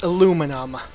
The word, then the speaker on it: aluminum: point i'm trying to make is the correct pronunciation is aluminum how do i know this well the uh